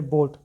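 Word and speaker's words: beat: वैसे ही आगे बीट, बीट में भी ई का साउंड प्रोनाउंस हो रहा है, ए जो है वो दब गया है।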